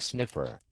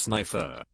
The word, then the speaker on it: Sniffer: terribly sorry Mr sniffer but we don't accept the Discover Card excuse me it's pronounced snifer my name is snifer pardon my name my last name it's pronounced snifer not sniffer my full name is